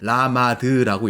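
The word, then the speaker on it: למד: 여기 앞에 써있는 세 글자는 라마드라고 읽습니다.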